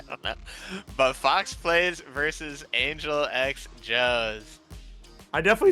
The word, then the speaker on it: AngelxJo: But yeah, if you guys played any Xbox 360 match back in the day, you know that the X is silent. So, AngelxJo, FOXPLYS, will be going at it in winners finals here in our rookie rushdown bracket.